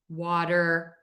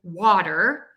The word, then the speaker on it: water: So that T in water is technically a flap T.